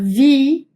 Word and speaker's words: Wie: Entonces, por ejemplo la palabra Wie, Wie, esa sí va a ser bien marcada el diente superior, el labio inferior para hacer el sonido de vi, vi, ¿bien?